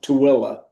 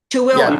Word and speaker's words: Tooele: Just for reference, Karen, that's pronounced Tooele. Tooele. Tooele.